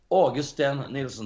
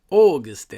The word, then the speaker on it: Åge Sten Nielsen: But my name is Åge Sten Nielsen. That's how it's pronounced. Åge Sten.